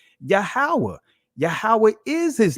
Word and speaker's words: Yahweh: You'll see the YHWH, which is the proper pronunciation of the Most High's name, Yahweh.